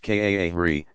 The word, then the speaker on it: qari: Excellent, is called a qari, pronounced kaahri, professional Quran reciter.